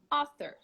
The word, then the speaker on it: author: not all very closed it's between ah and oh okay so we're gonna relax your lips and say ah all right ah author that's how you say it repeat with me everybody